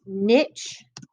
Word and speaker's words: niche: plant or an animal okay this word is pronounced niche and it's an organisms role in an ecosystem